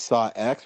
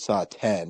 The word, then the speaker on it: Saw X: I mean, it's just Roman numeral 10. Yeah. I mean, you can say either one, but we know what it means. They call it Saw X or call it Saw